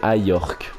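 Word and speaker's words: Ajorque: On m'a dit, niveau prononciation, qu'il fallait que Simakan se prononçait Simakan, du coup, et que Ajorc se prononçait Ayork.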